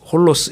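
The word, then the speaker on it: ὅλος: 말 영어로 오리라고 되지만 헬라어로는 홀리스 홀로스 이렇게 발음을 하는데 예 뭐 남김없이 지칠만큼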